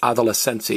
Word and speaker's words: adolescencia: So it's adolescencia, adolescencia. So don't put an accent over the I. It's adolescencia. You stress the next to last vowel.